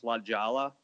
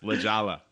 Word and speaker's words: La Jolla: I think you guys are pronouncing it wrong. It's Lajala. Yes, Lajala.